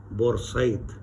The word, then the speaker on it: Port Said: 10 years it was completed, and it runs between Port Said, or as the locals in Arabic they call it Bor Said, between Port Said and another point.